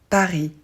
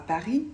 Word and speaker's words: Paris: vous avez remarqué mais on ne prononce pas le S à Paris et le T à chat c'est parfaitement normal en